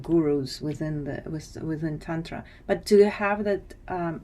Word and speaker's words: Tantra: AA so um but Tantra is just a short a a lot OFA than